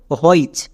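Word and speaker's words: which: এর জন্য হয়ে যাবে চো তাহলে এই শব্দের উচ্চারণটা কি হল হইচ কিন্তু আমরা হইচ উচ্চারণ করি না এই শব্দটা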